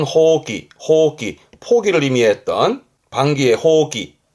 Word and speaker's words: 放棄: 발음은 호기.